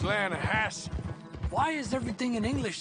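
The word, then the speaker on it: Lannahechee: river no no no no no the the lana hatchy it runs right near here yeah but it's pronounced laying a hass why is everything in english said differently than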